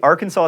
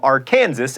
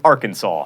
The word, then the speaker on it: Arkansas: One wanted to be known as the senator from R. Kansas and the other as the senator from Arkansas.